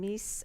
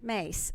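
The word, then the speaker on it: Myss: opinion on this I think it was Carolyn Mies or miss I my SS I pronounced Miss Mary Mary Thank You mace thank you for that for correcting me on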